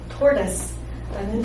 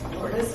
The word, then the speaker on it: tortoise: 그리고 톨토이즈도 원어민이 단 한 번도 그 어느 누구도 단 한 명도 톨토이즈라고 발음하지 않는 tortoise라는 단어예요. 영국 영어든 미국 영어든 인도 영어든 다 상관없어요. tortoise, it's tortoise, tortoise, it's tortoise. 영국 영어는 좀 T를 강하게 발음하기 때문에 tortoise 이렇게 하겠죠? 문제는 톨토이즈는 아니라는 거죠. Right?